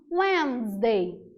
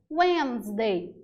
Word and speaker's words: Wednesday: Porque a escrita não encaixa muito com a pronúncia, se a gente for ao pé da letra. Então, nota, quarta-feira a gente chama de Wednesday. Wednesday. É uma pronúncia rápida. Wednesday.